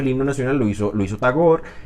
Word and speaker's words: Tagore: poeta que se llama tagor aquí en Colombia dicen tagore pero bueno la r no hay que pronunciarla está gorra bueno está